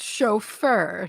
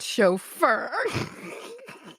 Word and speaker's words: chauffeur: A chauffeur is pronounced chauffeur, not chauffeur.